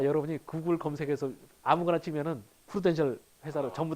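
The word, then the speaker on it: Prudential: 프루덴셜일까요? 푸르덴셜일까요? 영어로는 이렇게 쓰죠. 어느 게 맞을까요? 앞에 게 이제 맞는 게 기본이겠죠. 근데 우리나라 사람 발음할 때 이 프루랑 푸르를 잘 구분 못해요.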